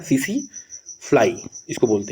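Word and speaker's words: tsetse: टी एस ई और टी एसई T silent होता है सीसी फ्लाई इसको बोलते हैं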